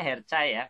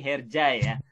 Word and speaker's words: Hercai: sesi khusus nih Kayak misalnya hershey ajaib bacanya kalau di Indonesia her saya kalau di Turki herjaya kerjain Nah kalau misalnya